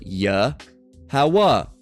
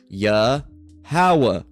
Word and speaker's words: Yahweh: So it's Yahweh. Yahweh. Okay? Yahweh. Okay? So, and what does that mean? What does that mean? It says Jehovah, which is the incorrect pronunciation. Again, no J's until about 1525.